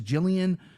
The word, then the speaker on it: Gillian: fights, plus 154 versus Jillian Robertson. See, I knew a girl with her name spelled like this, and it was Gillian. She goes by Jillian, which is fine.